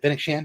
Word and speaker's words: Fennec Shand: Love that Fennec Shand.